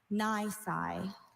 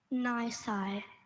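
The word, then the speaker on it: nisi: Nice. Nice.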